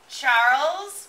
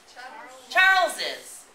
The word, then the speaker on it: Charles's: we're going to say Charles with an apostrophe and an S. How do we pronounce this? No? Charles's. We're going to say Charles's house, okay? Maybe you'll hear people say Charles' house, but we can also,